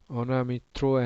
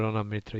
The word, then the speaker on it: Anamitra: And then yeah, Onamitro and Onamitro are same. Sri, because in Bengali we pronounce everything with like Rasgulla in our mouth. So it will be same. Yeah, Dr. Anamitra.